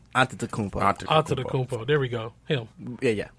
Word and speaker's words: Antetokounmpo: The Greek one is Antetokounmpo.